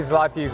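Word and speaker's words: złoty: This is Polish zloty.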